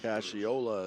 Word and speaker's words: Ciola: Rolling Bell number 24 Jimmy Ciola Cashiola is how they pronounce it here and that's just a great name I think Jimmy Ciola as Charlie Wjakowski